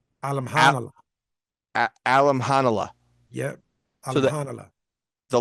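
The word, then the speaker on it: Alimkhanuly: And you don't pronounce the K in the middle.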